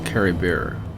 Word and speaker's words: Caribert: I'm pretty sure it's Caribert without the T.